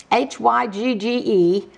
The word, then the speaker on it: hygge: says let's hygge okay when you talk about hooga hooga hy g GE is pronounced hygge h oo ga is pronounced like